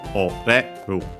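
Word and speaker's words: 折れる: Accented actually. So oreru. High, low, high, low.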